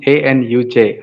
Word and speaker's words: Anuj: a mistake to pronounce my name actually it's anut a-n-u-j Anuj yeah yeah my pronunciation is Paul well no no it's okay